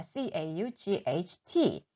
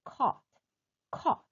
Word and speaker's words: caught: C-A-U-G-H-T, cut인데요. 이 cut 같은 경우는 중간에 있는 이 GH가 묵음입니다. 소리가 나지 않아요.